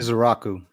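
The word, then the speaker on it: Ezeiruaku: We went Donovan, and please help me pronounce Donovan's last name correctly. Izaraku.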